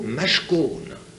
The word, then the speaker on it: mashkon: Et il y a un mot, un autre mot, mashkon, M-A-S-K-O-N. Et ça s'écrit avec les mêmes consonnes, parce que vous savez que l'araméen et l'hébreu s'écrit uniquement avec les consonnes.